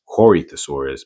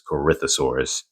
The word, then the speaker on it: Corythosaurus: pronounce it wrong as Corythosaurus, but it's Corythosaurus. So it's almost as if the O is silent.